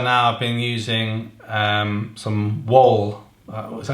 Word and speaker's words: Wahl: And then up until now I've been using some Wahl, what's that how you say it?